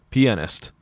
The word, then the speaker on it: pianist: I kind of want to say piano player instead, because, like, when you call someone a pianist, which is, like, that is how you pronounce it. Like, it sounds like you're calling them a penis.